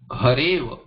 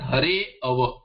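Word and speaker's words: हरेऽव: Most of what we hear, hare ava, the people pronounce this as hare ava. Hare ava is okay if you are not making the sandhi.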